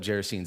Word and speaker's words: Gerasenes: And I looked up Gerasenes. That is how you pronounce it.